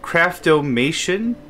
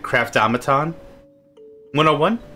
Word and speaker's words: Craftomation: This is Craftomation. I could probably hear someone pronounce this like Craftomaton 101. Yeah. The spelling's a little off for it to be Craftomaton, but I could see it.